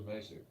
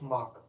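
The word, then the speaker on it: Macek: I thought it was Masick. It's pronounced Mock.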